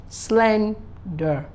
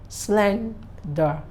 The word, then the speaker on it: slender: a two-syllable word is an adjective and when pronouncing it the s-l-e-n should as be accentuated slender slender not Slender no so that's it then we